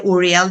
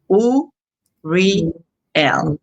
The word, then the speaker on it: Uriel: recently, I was told that their names, like when we say Uriel, the way I said it, their name is being said wrong. That is almost by syllables because of the frequency. So his name would be like U Ooh, R L. Ariel. U R L. Ooh, yeah. Because each syllable has a meaning and it has a sound.